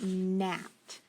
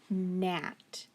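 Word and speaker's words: gnat: all right number 13 what about nat nat now i hear that um at the beginning but this is when i just have to know that it's actually that g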